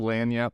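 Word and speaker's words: lagniappe: to my new culture I apparently pronounced it with a little too Frenchy not not enough Southern last week a little lanyap from George Santos it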